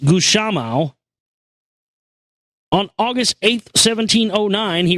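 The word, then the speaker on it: Gusmão: The true honor instead goes to Bartholomew de Gussamao, pronounced Gushamao.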